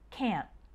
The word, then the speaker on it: can't: pronounce the T like we don't say can't with a really strong T sound it instead it sounds more like camp can the end of